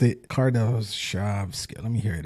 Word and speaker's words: Kardashev: Based on these facts, scientist Nikolai Kardashev developed a method of categorizing civilizations from cave dwellers to gods ruling over galaxies.